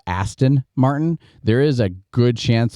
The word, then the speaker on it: Aston Martin: I keep saying uh since I keep saying Austin Martin instead of Aston Martin there is a good